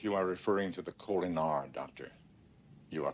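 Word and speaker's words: Kolinahr: apparently to stay yes you were undergoing the culiner discipline sit down if you are referring to the colar doctor you are correct well however it's pronounced Mr Spock it's the Vulcan ritual that's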